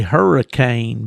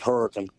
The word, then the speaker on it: Hurricane: If you lived in Florida, they'd say hurricane, but that's hurricane, isn't it? Yeah, we we pronounce it hurricane.